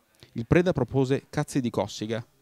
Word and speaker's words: Cossiga: preda propose cazzi di cossiga con l'accento sulla o il bigio questo e